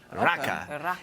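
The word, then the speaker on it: rakı: at the premiere episode even though there's an eye at the end it's pronounced kind of a ish raka and it's the national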